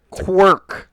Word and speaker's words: quirk: Quirk. Quirk, as in something quirky, not quark as in a bartender in space.